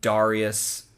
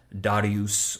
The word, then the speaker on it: Darius: Or, Darius, that's like the more Latin pronunciation, or it's more like Darius or Darius. It's more like, that's like the anglicized Greek approximation of his name.